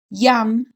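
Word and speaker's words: ים: Yam means sea in Hebrew. but it sounds like yum.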